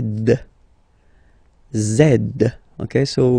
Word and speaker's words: zed: the last one Z zed zed okay so remember to pronounce this D at the end zed zed okay so let's